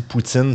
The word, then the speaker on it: poutine: Fa intéressant Ryan Gosling dit Poutine très très bien. Il est poutine. Dit ça se prononce comme Poutine.